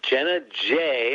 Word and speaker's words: Jenna J: Well, this is Jenna J. Am I pronouncing it right?